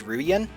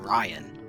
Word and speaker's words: Ruan: also I'm almost positive this character's name is pronounced Ruan but everyone in Forever Kingdom just calls him Ryan like we have all